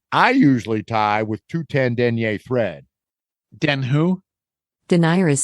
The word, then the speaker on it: denier: I mean, the French way is denier, but people in the U.S. say denier.